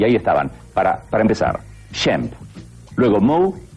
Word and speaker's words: Shemp: En realidad se llamaba Shmuel o Samuel, pero parece ser que la madre, con su acento europeo de inmigrante, no lo pronunciaba bien y decía Shem, Shem, y el Sham quedó en Shem.